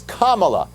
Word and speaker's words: Kamala: the correct way to say her name it's kamala so maybe someone should tell joe biden that's